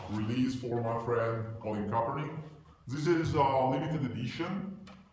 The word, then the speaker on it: Kaepernick: E come avete capito il nostro ospite speciale ha giocato con Colin Kaepernick, pronuncia corretta, Yeah.